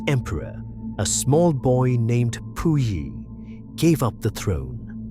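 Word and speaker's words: Puyi: In 1912, the last emperor, a small boy named Pui, gave up the throne. The name is pronounced Pui.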